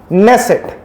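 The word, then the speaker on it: Knesset: Israel की parliament को ऐसे बोलते हैं नेट पर इसमें कैसे साइलेंट है नेस सेट 120 मेंबर्स हैं एक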